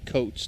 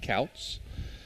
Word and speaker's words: Coates: It's Coates, not Couts.